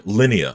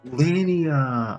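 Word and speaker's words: Linia: Lineia. I'm sorry. I keep saying Lilia. Jesus Christ. Lineia.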